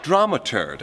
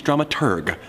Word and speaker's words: dramaturg: no deal with it drama turd the correct pronunciation is dramaturg the researcher of the